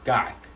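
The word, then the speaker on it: kaak: It's kak. K-A-A-K, pronounced kak.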